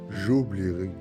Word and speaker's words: j'oublierai: بالنسبة للفيرب أوبلي فهو فعل ينتهي ب ER كما قلنا، وقلنا أن E لا يتم نطقها. فنقول جو قلت نقول جوبليري، جوبليري. أو تيوبلورا، تيوبلورا. il oubliera. عفوا. فنقول j'oublierai, j'oublierai, tu oublieras, tu